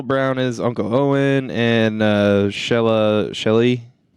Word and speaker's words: Shelagh: Phil Brown is Uncle Owen, and Shelley. It's spelled very interestingly, almost like Shillelagh.